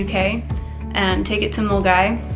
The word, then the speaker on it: Milngavie: and take it to mulgai which is spelled miln gavey but it's molgai and you can start